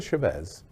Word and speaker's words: Chavez: America Chavez, did I pronounce that right?